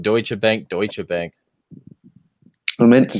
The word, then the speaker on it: Deutsche Bank: Like, out of everything else, is that you pronounced it Reuters when you just pronounced Deutsche Bank, Deutsche Bank.